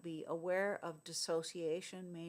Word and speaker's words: dissociation: It's not pronounced disassociation. Many people pronounce it that way. It's not that. It's dissociation.